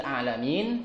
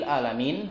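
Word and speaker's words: العالمين: adalah kalimat alanin rabbil alamin yang seharusnya dengan Ain ada beberapa orang yang mungkin membacanya dengan Hamzah ya alamin Gimana kalau alamin dengan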